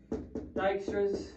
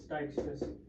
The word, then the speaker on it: Dijkstra's: At the application level, shortest path algorithms for example, Dijkstra's, that's how you pronounce it, it's Dijkstra's, or asterisk are required to compute routes in a weighted graph model.